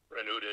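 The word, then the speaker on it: Renoudet: It's pronounced pretty much the way I spell the professional name, Renaday. Ah. Originally, it would have been Renaday, but nobody says that.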